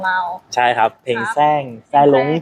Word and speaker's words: แสร้ง: ใช่ ครับ เพลง แสรง แซ่้ง จริง ๆ มัน อ่าน ว่า แซล้ง นะ ครับ อ แซง แสรง อฟก